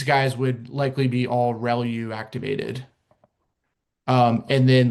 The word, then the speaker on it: ReLU: Um the the way you pronounce this is called relu.